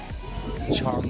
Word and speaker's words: Chong: Pronounced Chum Rock.